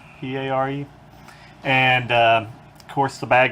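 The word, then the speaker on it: Paré: But anyway, the guy character in this movie is Michael Perry, I think it's pronounced Peare, and of course the bad guy is Willem Dafoe.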